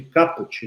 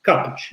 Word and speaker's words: caput: a gente chama de caput, né? Caput se escreve assim. Caput, mas fala caput, vem do latim cabeça, ou seja, é a parte principal de um artigo, né?